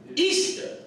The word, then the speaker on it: Astarte: This is Astarte, pronounced Easter.